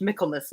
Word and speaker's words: Michaelmas: only reason i know it is pronounced michaelmas right michael yeah because i think